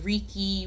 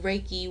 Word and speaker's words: Reiki: re EI Ki and some people call it Ricky Reiki what whatever suits your soul that's what you call it but if you want